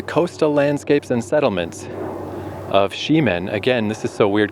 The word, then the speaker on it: Ximen: landscapes and settlements of Ximen. Again, this is so weird because it's Ximen, S-H-I-M-E-N, where the neighborhood I love so much, X-I-M-E-N, is also pronounced Ximen.